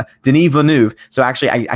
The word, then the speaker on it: Denis Villeneuve: on Jeremy stream and he corrected me it is a de Neve one of Villeneuve I don't pronounce it a correct every time but it's Nev not Nev I don't know why